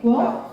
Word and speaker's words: Guelph: Guelph?